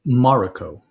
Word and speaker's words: Mariko: I've always heard it Mariko. Like Mariko. Okay. Yeah, well, that's how I'll pronounce hard it. on the first accent, on the first syllable. Okay. She changes places with Lady Mariko, assuming that Ogun would